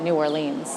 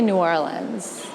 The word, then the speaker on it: New Orleans: song about New Orleans, but he calls it New Orleans. So let's talk about the pronunciation of the city. Oh, this is a pet peeve. So I say New Orleans, but other people say New Orleans or New Orleans.